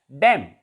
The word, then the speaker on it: damn: It is pronounced as dam.